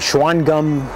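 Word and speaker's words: Shawangunk: the most predominant is the schwann gum or schwann gunk as it's spelled conglomerate very hard gray-like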